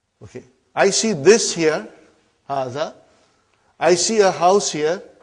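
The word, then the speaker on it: هذا: Haza. See, it is pronounced like Haza. But this alif is not written. It is explained in the key also.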